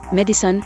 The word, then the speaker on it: medicine: Disyllabic pronunciations of the word medicine are quite old, and have in fact at times been considered more proper than trisyllabic pronunciations.